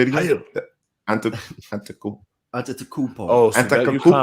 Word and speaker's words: Antetokounmpo: You got ETP, Ellis, the producer over there, pronouncing what's the last name again? Say it again. Antetokounmpo.